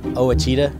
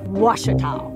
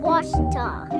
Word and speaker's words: Ouachita: University back in Texas everybody pronounces it Wichita but really it's Ouachita Washita Washita how would you pronounce